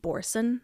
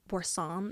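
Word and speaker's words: Boursin: Have you guys ever had Borson or Borsam is how it's pronounced?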